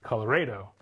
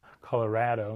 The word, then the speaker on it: Colorado: the new ones right newcomers are more likely to hew closer to the Spanish pronunciation Colorado you don't say have a cat oh right so it should be Colorado like avocado like tostada right Sanibel says that's a